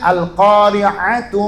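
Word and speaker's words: القارعة: Lah mungkin dia baca Qur'annya al-qari'ah, mal-qari'ah. Ya salah. Bacanya al-qari'atu mal-qari'ah.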